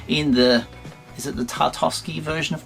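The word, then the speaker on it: Tartakovsky: the is it the tartowski version of Clone Wars tarkovsky that's how you say it get in there have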